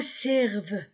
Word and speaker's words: servent: À quoi servent? E-N-T du verbe pluriel ne se prononce pas.